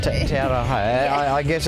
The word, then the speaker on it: Te Aroha: It's actually pronounced Te Aroha. Te Aroha.